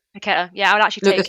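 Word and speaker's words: Paquetá: Oh my God, how do you pronounce his name? Paqueta.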